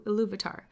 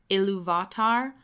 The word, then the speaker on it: Ilúvatar: I know in the audiobook that I listened to, it's pronounced Ilúvatar, but as far as I understand from the other Tolkien people I've talked to and listened to, it's Ilúvatar, so that's what I'm